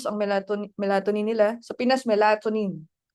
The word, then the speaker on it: melatonin: Melatonin melatonin parang brusce ko na ewan. In other countries, it's pronounced as melatonine.